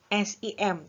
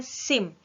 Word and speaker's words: SIM: Mengemudi diakronimkan menjadi SIM bukan dibacanya PSIM tetapi dibacanya SIM jadi sebuah kata ya